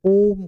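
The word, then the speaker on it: ॐ: लोग पसे बोलते हैं ओम करके बोला जाता है इसका उच्चारण ओम होता है ठीक है ओ ऐसा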